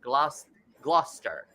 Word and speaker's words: Gloucester: Lynn and Phil from Gloucester. Yes. Hey. That's how it's pronounced.